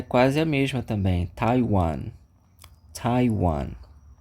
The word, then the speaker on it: Taiwan: temos ali um país chamado Taiwan que a pronúncia é quase a mesma também Taiwan Taiwan é só prestar atenção no t não